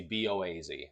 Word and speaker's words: Boaz: Very easy, B-O-A-Z, very easy to figure out, Boaz, as opposed to Jachin, which is either Jachin, or I've also seen it Jaochin.